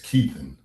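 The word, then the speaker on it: Keithon: My name is Keithan. It's spelled K E I T H O N.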